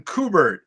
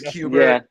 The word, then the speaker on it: Kubert: because every pretty much everybody on YouTube is like Adam kubert Adam kubert I'm like no no it's Cuba yeah yeah Joe Hubert's